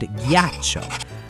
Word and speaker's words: ghiaccio: It's the exact same with funghi and ghiaccio. That little H makes all the difference in the world.